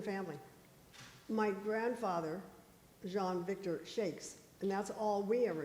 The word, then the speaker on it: Chaix: you that's exactly what but you know Kathy and John say checks and then Ed's family no checks checks checks see well because that's on their their um you know publicity for their wine they spell it c-h-c-h-e to our checks whatever and then the other one Shacks Shacks is that what you said yeah so that's why